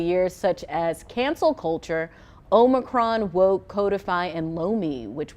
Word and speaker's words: Omicron: I'm curious whether they pronounce Omicron or Omicron, because you know there's. The proper way is Omicron. It's Omicron, I believe, right from the Greek alphabet, right?